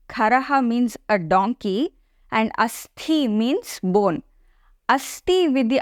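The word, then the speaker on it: अस्थि: But if we put a mahapranatha and say asthi, then it means a bone.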